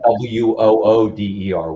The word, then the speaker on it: water: But if you're from the Philly area with their accent, it comes out like sounding like WOODER, water ice. So they actually they have a cartridge, like a cannabis cartridge here called Mango Water Ice, and it's spelled WOODER.